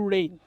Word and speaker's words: reign: king long may you rain rain r e i g n the g sound is silent ring not g and a